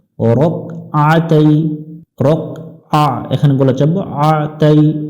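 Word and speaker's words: ركعتي: হবে তালা লিল্লাহি তাআলা রকতাই এখানে অনেকজনে ভুল করে থাকি আমরা রাকাতাই পড়ি রাকা এখানে কিন্তু কাফের উপরে জবর নাই আমরা জবর উচ্চারণ করলে অর্থের পরিবর্তন চলে আসবে রক আতাই রকআ এখানে বলা যাব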